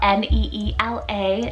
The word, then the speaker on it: Neela: names here next first we have mila spell n-e-e-l-a neela it's hindi rooted meaning blue then we